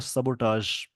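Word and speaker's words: sabotage: इसका प्रोनाउंसिएशन होता है सबोटाज।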